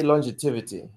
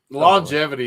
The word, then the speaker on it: longevity: Alabama two different words well longevity is the proper pronunciation of that by the way yeah yeah Mr Alabama I was like an American longivity is not even a word but three and three